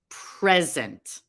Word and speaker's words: present: stress and intonation patterns if you were to read the word present it could be one of two words it can be a noun or it can be a verb for the holiday i received a beautiful present the stress is on the first syllable and the word is a noun i have a beautiful